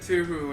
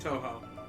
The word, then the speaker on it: Toho: I pronounced it Tuhu, and then James had to point out the entire to everybody that is pronounced Toho.